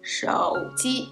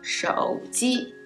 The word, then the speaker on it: 手机: Phone is 手机. Third tone, first tone. 手机, 手机.